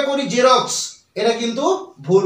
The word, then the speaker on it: Xerox: z এখন এক্স সমান z কিভাবে ধরবো দেখো জেরক্সে এক্স দিয়ে জেরক্স বানানটা শুরু হয় কিন্তু এক্স বর্ণটি ব্যবহৃত হলেও